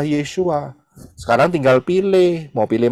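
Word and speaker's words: Yeshua: jelas Siapakah yang disebut Yesus di Indonesia itu ini adalah background-nya yang benar yaitu adalah roh-roh paganisme yang benar adalah yesua sekarang tinggal pilih mau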